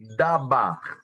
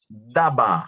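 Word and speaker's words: דבר: expressão palavra de Deus do hebraico é é uma palavra e se pronuncia dava eu anotei aqui da ba O que é palavra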